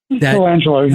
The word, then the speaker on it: Colangelo: Is that how you pronounce his name? Colangelo, yeah.